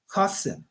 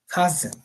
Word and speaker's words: Qasim: Qasim. You know, sometimes they spell it with an E. You know, but it's a Z sound. That's how it sounds. Qasim.